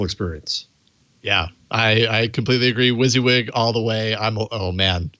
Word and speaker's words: WYSIWYG: da da, and he said, I'm going to pronounce that WYSIWYG.